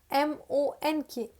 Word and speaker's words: monk: Next, monk. I am pretty sure that 90% of the people call it monk. But this is not monk. This is monk. O को आप O की तरह pronounce नहीं करेंगे.